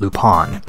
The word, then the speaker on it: Lupin: animated series might know the name is usually pronounced loop on as opposed to the pan since that is the closest equivalent in Japanese soul upon the third